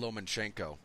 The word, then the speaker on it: Lomachenko: A lot of congratulations to, in the boxing world, Vasyl Lomachenko. Excuse me. There's not an N there, and I keep wanting to put one there.